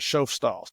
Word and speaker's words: Schoffstall: And if I did forget to say that, his last name is Schoffstall. That's the German pronunciation.